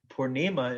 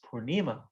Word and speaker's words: purnima: a festival called gorpurnima purnima is full moon it's a long a at the end it's feminine and so everybody in india always says purnima you know but we're